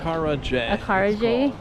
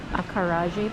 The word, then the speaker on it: Acarajé: Acarajé.